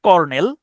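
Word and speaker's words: colonel: হচ্ছে যুদ্ধরত যুদ্ধরত ওকে কলনেল এর উচ্চারণটা হচ্ছে কর্নেল উচ্চারণটা হচ্ছে কর্নেল কর্নেল কিন্তু বানানটা হচ্ছে কলোনেল।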